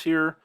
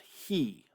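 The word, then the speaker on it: היא: And there's a couple ways to remember the difference here, but man, is this unfortunate. Because in Hebrew, this word is pronounced he. He. Just like this. It's pronounced the same way, he.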